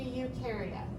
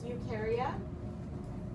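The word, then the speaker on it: Eukarya: So the only domain that you've got is ukaria. It's spelled over there. E U K A R Y A. If you say ukareote, it's not correct because ukareote is a type of cell.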